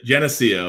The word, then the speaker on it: Geneseo: How do you pronounce it? Yeah, Geneseo. Yeah, it's a state public school here in New York. Gotcha. Geneseo.